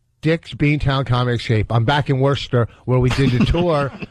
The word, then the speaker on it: Worcester: back in Worcester where we did the tour 2 years ago.